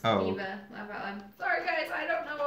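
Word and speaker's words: D.Va: true it's from OverWatch it's pronounced Diva sorry guys I don't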